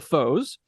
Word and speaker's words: Fauxs: let's talk about it your band is called the foes and f-a-u which rhymes with hoes of course of course